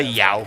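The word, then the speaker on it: João: I would say Yao.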